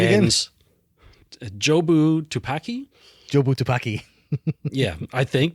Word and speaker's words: Jobu Tupaki: jobu tupaki how do you say it again jobu tupaki jobu tupaki yeah I think maybe um but